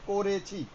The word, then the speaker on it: করেছি: একটা ও আছে, একটা অমিটেড, এটা আমরা দেখি না, কিন্তু উচ্চারণের সময় আমরা ও ব্যবহার করি। এটা হচ্ছে করেছি।